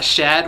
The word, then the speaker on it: Shad: Shad with an S, not Chad.